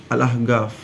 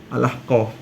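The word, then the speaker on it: الأحقاف: Jadi al-ahqaf jadi al-ahgaf. Itu kan ada di di Yaman tuh kan ada bukan ada apa kampus namanya, kampus yang ternama al-ahqaf. Tapi bacanya al-ahgaf gitu.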